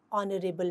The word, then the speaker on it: honorable: We also write an honorable man since HO is pronounced as O, a vowel sound.